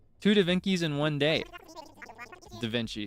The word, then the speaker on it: Da Vinci: So, with this one, this is Speaking of Dainci, we got two Dainci. Two Dinkies in one day. Da Vinci is the correct way to pronounce that name, by the way, just in case you don't know.